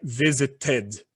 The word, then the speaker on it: visited: Aí ficaria visited. Nesse caso, você pronuncia o E e o D.